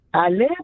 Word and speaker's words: Ale: pronounced in washington um aly is that is that how you pronounce your name uh it's actually ali but anyway you pronounce